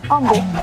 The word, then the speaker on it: Humble: on the same page it's pronounced humble with a silent h so what's the cost